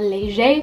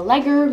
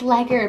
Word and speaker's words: Leger: If anyone follows, I'm a leger. I'm a legger. However you want to say it. It's actually pronounced leger, but everyone like shames me and they're like, it's legger, but it's actually leger.